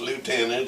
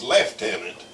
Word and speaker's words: lieutenant: But the lieutenant, and in the British and Canadian Army it's not pronounced lieutenant, it's lieutenant. The name was Porter, Jack Porter.